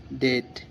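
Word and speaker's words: debt: এই বিটা এখানে আছে এই বিটা সাইলেন্ট আছে যেমন ডি বিটি ডেট আমি আবার বলছি ডিটি ডেট হচ্ছে কিনা বিটা সাইলেন্টস তো লেখার সময়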